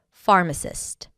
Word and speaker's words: pharmacist: The 10th word for today is pharmacist. A pharmacist is a healthcare professional trained to prepare and dispense medications. Phar-ma-cist. Pharmacist. The stress is on the first syllable.